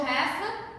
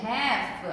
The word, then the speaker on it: half: E o half, olha como ele escreve. Tá vendo pra ver? Ele escreve com um L, entendi. Very good. Mas a gente não pronuncia esse L. Então, vai direto pro F.